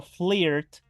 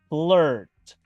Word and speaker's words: flirt: si se dan cuenta lo pronuncio como una e no como una i en español no digo flirt Digo flirt e Milk leche Milk